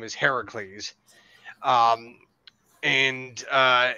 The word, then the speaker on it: Heracles: to be Hercules or if you get the pronunciation right it is Heracles uh heres swz oh yeah yeah Arnold Arnold me Hercules Hercules but the actual pronunciation of the name is Heracles um and uh it's Heracles versus believe it